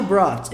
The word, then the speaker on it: brought: A pronúncia é mais ou menos assim, tá? Brought. Enquanto no outro você tinha bought, aqui você tem brought.